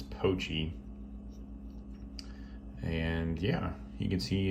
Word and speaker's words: Pochi: and yeah this is the spyderco actually mispronounced mispronounced it's poachy and yeah you can see it's a very